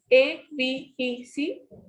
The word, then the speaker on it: avec: First word is A-V-E-C. So the pronunciation of this is avec. You will pronounce this word completely.